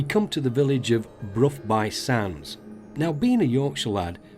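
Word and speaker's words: Burgh by Sands: 5.5 miles from Stanwick, we come to the village of Brough by Sands. Now, being a Yorkshire lad, I would have pronounced it Borough by Sands, but I've been reliably informed that it is pronounced Brough.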